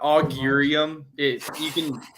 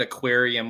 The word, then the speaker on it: Augurium: Augurium, is that correct? Yeah, Augurium. We have people calling it aquarium with the bloody logo.